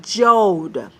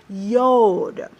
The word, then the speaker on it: Yod: So as we learn Hebrew, okay, I cannot pronounce that Jod, all right, because there's no letter J, all right, and that is a Y, Yod, all right.